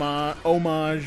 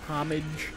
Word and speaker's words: homage: Up For Debate like uh hom homage or homage like so I recently got told that I'm a douche because I pronounce it homage no that's that's a recognized way to pronounce it that's what I